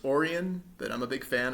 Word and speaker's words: Orien: But Orion's Belts, or as it should be pronounced, Orien, but I'm a big fan of puns, is a location in Eve Echoes.